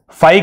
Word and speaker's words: phi: फाई का मतलब क्या होता है और इसकी स्पेलिंग क्या होती है?